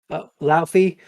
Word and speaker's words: Laufey: Larfrey, is that how you say his name? Laufey.